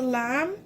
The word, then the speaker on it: lame: So this is called a lamb. It's spelt like lame.